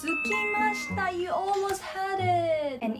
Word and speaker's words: 空きました: No, the pronunciation is not akimashita, it's sukimashita.